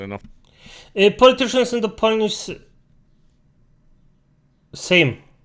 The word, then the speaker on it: Sejm: Same. Not Sejm. Mate, you're not Turkish. Same. And I know it sounds like the word for the same, like it's identical.